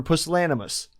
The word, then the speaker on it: pusillanimous: can tell me because I'm just short for puzzle animus so that's p-u-s-i-l-l-a-n-i-m-o-u-s do an audio on the on the pronunciation of that yeah let me let me